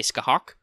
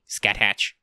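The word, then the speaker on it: Scáthach: on to how on how to say ska hawk oh yeah because otherwise saying saying her name would probably be kind of funny Scott hatch Skyhawk but yeah so that's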